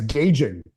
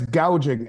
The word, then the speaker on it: gouging: She said it last night, price gauging. It's price gouging, and they're not gouging anything.